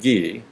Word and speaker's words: Guy: okay my name is guy which is the american pronunciation of ghee as you point out